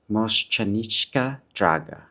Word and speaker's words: Mošćenička Draga: But anyway, I apologize for pronouncing it wrong. It's Mosch Chanichka Draga. Draga.